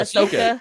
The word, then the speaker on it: Ahsoka: how you say it do you say it Ashoka yeah correct Oh yay yes we're using that